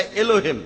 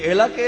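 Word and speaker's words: Elah: একমত উচ্চারণে কিছুটা পার্থক্য তারা বলে আলা আমরা বলি আল্লাহ উচ্চারণ কিছুটা আলাদা তবে শব্দ দুটো একই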